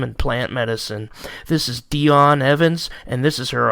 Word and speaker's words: Dijon: advocates for kratom and plant medicine this is dionne evans and this is her amazing kratom story you have quite a story and your name is dionne evans that's how it's pronounced right yes it is because when i